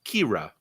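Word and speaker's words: Qi'ra: there people were uh her name was kira everybody but it's spelled cue i apostrophe r a kira they gotta keep coming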